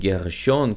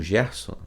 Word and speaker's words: Gershon: Porque a raiz do nome Gershon, que você conhece como Gerson, né, foi assim para a nossa tradução para o português. Mas lembre-se, não se deve traduzir nomes, tá certo? A forma como se pronuncia é a forma como realmente é, entendeu?